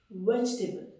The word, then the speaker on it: vegetable: वेजिटेबल क्या है? वेजिटेबल। ये देखिए, वेजिटेबल, ठीक है। इसमें ई जो होता है ये साइलेंट होता है, ठीक है।